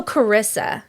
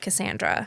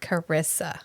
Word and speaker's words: Carissa: Girl, you got to Oh, Carissa, not Cassandra. Carissa.